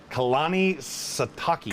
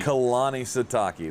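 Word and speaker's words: Kalani Sitake: it i always screw it up i can't pronounce it so kalani sataki kalani sataki that's it i had to pull up the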